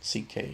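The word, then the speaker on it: Székely: Yes, that's how you pronounce it. CK.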